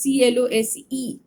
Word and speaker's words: close: And again, if it is spelled as CLOSE, but it rhymes with doors, close, then it means to shut.